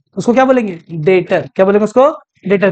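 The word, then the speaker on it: debtor: से अगला टम क्या फिर लिखते डेटर है बोलते डेटर है बी E silent B E silent ये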